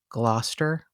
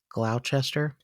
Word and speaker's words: Gloucester: And she said something like, I think one of her children lives in Gloucester, but it looks like it's Gloucester. Oh, okay. Oh, you know those Gloucester.